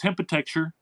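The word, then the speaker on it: Hempitecture: Uh but again, it's hempite. It's like architecture but spelled with hemp.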